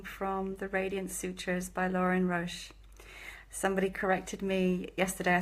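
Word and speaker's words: Lorin Roche: I'm very grateful that the correct pronunciation of the author of these wonderful this wonderful translation is Lauren Roche not Roche which have been saying most of the time so forgive me Lauren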